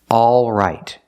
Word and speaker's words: all right: is back here a all right some people don't pronounce the L but they keep the same vowel a not o but a if we eliminate the L it sounds like this